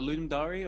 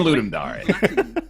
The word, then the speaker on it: Ludum Dare: the way, for the official pronunciation of that game jam, Ludum Dare. Is that right? We don't That's know. how I've been saying Ludum Dare.